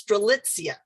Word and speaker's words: Strelitzia: And if I would mispronounce them, she would say like, no, it's Strelitzia, you know.